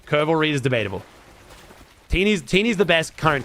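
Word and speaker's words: T3ENY: It's T3 ENY, but it's pronounced Tiny.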